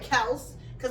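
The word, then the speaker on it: Kelce: they came to destroy Kel CU I'm not calling him Kelsey because that's not how you pronounce his last name Kel was getting into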